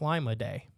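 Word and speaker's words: Limidae: It's a unique marine bivalve mollusk belonging to the family Lamiidae, almost spelled like Lima-day.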